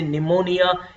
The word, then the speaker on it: pneumonia: in the same with P and n is coming together so you will say pneumonia in the same way